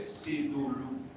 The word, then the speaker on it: Sedolo: Et chez les Minans, on ne dit pas Cédolo, on dit Cédolo. Donc la bonne prononciation de son prénom, c'est Cédolo.